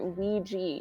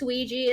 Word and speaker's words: Ouija: even know I oui why did I always pronounce it Ouiji Ouiji yeah IA in English it's Ouija it's just like I think it's just a